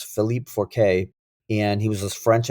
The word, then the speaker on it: Philippe Forquet: in the movie was, I think his last name is pronounced Forquet, but it's Philippe Forquet.